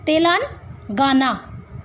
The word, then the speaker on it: तेलंगाना: कौन सी बनाई है, क्या प्रोनाउंसिएशन है, ब्रेक करो, तक, तेलंगाना, गाना नहीं गाना वहाँ पे जाके, ठीक है, तेलंगाना।